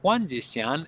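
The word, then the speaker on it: 黄: So Huáng is a rising tone, Huáng, and Zhīlán, two first tone, and it means yellow gardenia fragrance.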